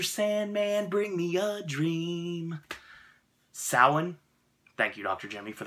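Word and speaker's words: Samhain: Sandman bring me a dream saawan thank you dr. Jimmy for the pronunciation it means Lord of the Dead the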